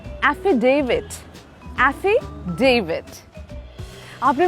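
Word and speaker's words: affidavit: लोग कहते हैं इसे एफिडेविड बना देना। डेविड कैसे हो गया? टी है वहां पे। The pronunciation is एफिडेविट।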